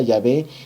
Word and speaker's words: Yahvé: como viene allí con con letras latinas pero en lenguaje Antiguo y H W que nuestro que nuestro español se pronuncia yahvé y que significa yo